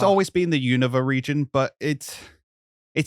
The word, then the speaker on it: Unova: Apparently, I've been pronouncing Unova wrong. Unova. Unova is how you're supposed to.